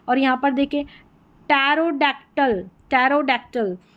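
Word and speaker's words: pterodactyl: यहां पर भी पी साइलेंट है और यहां पर देखें टैरोडक्टल टैरोडक्टल तो यहां पर भी पी जो है वो साइलेंट है।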